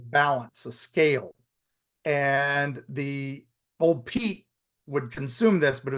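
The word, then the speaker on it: Ol' Pete: Pete oh okay not old Pete old Pete o l apostrophy Pete and everybody told me don't Don't pronounce the d don't pronounce the d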